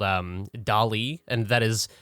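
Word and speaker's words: DALL-E: or whatever called um dolly and that is dolly said like salvador dali but it is spelled like wall-e uh the robot um which is which is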